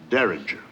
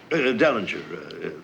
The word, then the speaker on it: Dellinger: respect to the defendant Derringer. I think Your Honor means Dellinger. Dellinger, that's right.